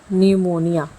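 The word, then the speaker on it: pneumonia: अब सेकंड है हमारा पी। अब पी जो है वो तीन कंडीशन में अपनी आवाज़ नहीं देता। अगर पी के बाद एन लगा हो, या पी के बाद एस लगा हो, या पी के बाद टी लगा हो। जैसे एग्ज़ाम्पल है न्यूमोनिया। न्यूमोनिया एक बीमारी है जो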